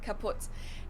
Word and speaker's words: kaputt: We spell it with 2 T's in Germany, but we pronounce it the same way, kaput.